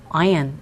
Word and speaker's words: iron: 자, 이 표현에서 iron이라고 발음하지 마시고 요 철은요, iron. iron. 이렇게 발음해 주시면 되겠습니다.